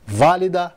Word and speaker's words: válida: E se fosse proparoxítona? Válida e prática. Mesma coisa, bate junto com a tônica no quarto tempo, na virada do compasso.